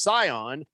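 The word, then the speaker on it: Sian: uh boogie says that her name is scion s-i-a-n it's pronounced scion and they're doing a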